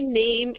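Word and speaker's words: नाम: is Mea mea and name is pretty similar to you know what we say in English except it's Nam you know without e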